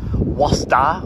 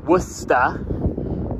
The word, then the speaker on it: Worcester: guys it is not Wasa or westa or Woodchester it is W wo the r kind of Silence so you say ignore the r it's wer for game Street the